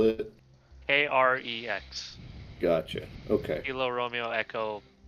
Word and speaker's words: Krex: His name is Krex. Can you Oh. spell it? Krex.